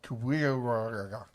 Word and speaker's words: QWWG1WGA: I'm not really sure how I'm supposed to pronounce that. It's pronounced Kuya.